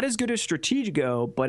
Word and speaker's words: Stratego: differences in strategic well one it's pronounced Stratego right faggle so the other